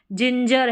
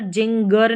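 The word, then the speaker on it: ginger: पर देखेंगे स्पेलिंग में जिंजर है जिंजर यहां पर जिंगर नहीं पढ़ेंगे मतलब हर लास्ट में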